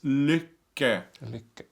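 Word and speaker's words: Lykke: happiness it means happiness in Norwegian and it's liquor look at mm-hmm I hope that helps that's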